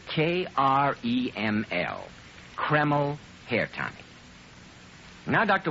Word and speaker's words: Kreml: It's called Kreml Hair Tonic.